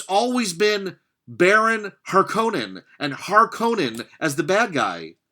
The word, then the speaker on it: Harkonnen: I find it odd that they say Harkonnen. Maybe that's the correct pronunciation, but Harkonnen with the hard and strict vowels sounds better than Harkonnen. Harkonnen sounds like a car running out of gas.